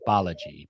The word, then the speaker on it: Balaji: Um there is this person here um and uh it is right here, Suchir uh Balaji Balaji Balaji's the correct pronunciation.